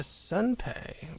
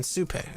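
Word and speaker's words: Supay: Didn't play the Sunpei, which is interesting. I mean, Supei. I always pronounce it Sunpei in my head. That's not its name.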